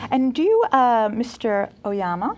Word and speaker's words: Oyama: do you uh mr oyama i love that your name rhymes with obama yes nowadays they call